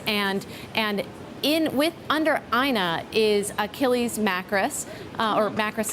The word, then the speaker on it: Ina: linked to all this it's it's aina drew is the way she pronounces it and she's basically the